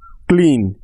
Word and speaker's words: clean: এবং দ্বিতীয় ভাওয়েলটি ই, যেটা কিনা অনুচ্চারিত আছে বা সাইলেন্ট আছে। নিড, নিড মানে প্রয়োজন। তার পরের শব্দটা দেখো, ক্লিন, CLEAN ক্লিন।